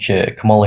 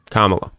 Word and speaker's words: Kamala: Because I think Camala Harris is a tyrannical oligarchic money hungry candidates.